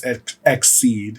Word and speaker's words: EXID: And you had it right. It's EXID. EXID. Because okay. it stands for Exceed in Dreaming. Oh, nice. Okay. Yes. I like it. So EXID. Good. At least I know I'm saying it correctly.